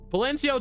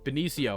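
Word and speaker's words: Benicio: Balencio Del Toro was in here. That's not how you pronounce his name. Valencio. No, it's uh Benio.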